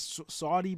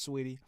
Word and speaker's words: Saweetie: know I'm gonna say her name wrong because it reads as Saweetie, but I'm pretty sure it's Sweetie.